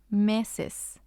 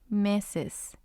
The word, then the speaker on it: meses: We have meses, meses, and it means months. And this one ends in S, and it also has two syllables, ses, me. Ses is the first syllable, me is the second syllable.